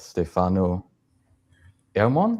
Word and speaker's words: Stefano Ermon: So this time we've got Stefano Ermon. Is that how you pronounce it?